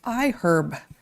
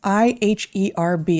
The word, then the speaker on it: iHerb: new to us it's iherb that's i-h-e-r-b and yes that is how it's pronounced even though the word herb is not pronounced with the uh audible H I cannot make me